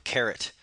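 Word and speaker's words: caret: little symbol here is called a carrot and that's spelled c a r e t and in some languages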